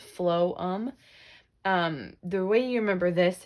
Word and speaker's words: phloem: this is going to be the phloem pH LOM pronounced flow um the way you remember